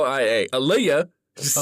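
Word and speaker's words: Aelia: I don't know a e l i a aaliah just say it like that okay my name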